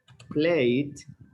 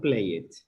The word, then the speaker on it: played: Remember, most of the verbs, as we are going to see in the lesson, you pronounce played, played, not play it.